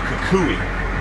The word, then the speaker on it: kukui: It's the kukui. Kukui. It's spelled K-U-K-U-I.